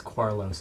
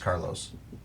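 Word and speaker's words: Qaarlost: mod it's car actually you know what it probably would just be pronounced Carlos Carlos oros yeah that makes sense yeah maybe an Elish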